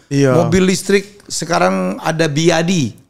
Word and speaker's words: BYD: mobil listrik sekarang ada biadi bacanya Ternyata byadi bukan byd ya Oh gitu by biadi tiba-tiba kita tahu oh